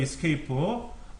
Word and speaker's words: Escape: 키보드 제일 왼쪽 위에 ESC, 키보드 제일 왼쪽 위에 Escape라고 읽어요. Escape.